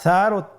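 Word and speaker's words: ثاء: সা হরফটি বারিক মানে পাতলা করে উচ্চারণ করতে হবে। তাহলে আমরা এখন সায়ের মাখরাজ লক্ষ্য করি। সায়ের মাখরাজ কোন জায়গা থেকে? স্ক্রিনে দেখা যাচ্ছে। সা হরফটির মাখরাজ হলো উচ্চারণের স্থান জিহ্বার আগা সামনের উপরের 2 দাঁতের আগার সঙ্গে লাগিয়ে উচ্চারিত হয়।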